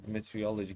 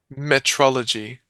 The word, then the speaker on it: meteorology: and gain advantage in quantum meteorology. Can you pronounce this one for us? Metrology. No, meteorology, not meteorology. Okay, you're right. Meteorology.